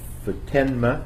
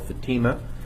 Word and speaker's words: Futenma: Corps Air Station in Futenma, Okinawa. It originally was called Fatima, and our hosts asked us to pronounce it differently.